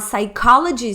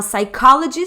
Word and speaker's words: psychology: Law student a a psychology student a psychology student olha aqui a gente não pronuncia o p tá não pronunciamos começa ali no s I'm a psychology student Sou estudante de